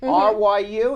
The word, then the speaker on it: Ryu: Ryu, R-Y-U, is that my pronouncing it right?